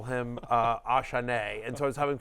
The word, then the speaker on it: Achane: everyone thought it was Achane, and then after his So coming it's out, Achane, Yeah. Achane, and that's how he was referred to at Texas A&M for years and years and years and It's in the years.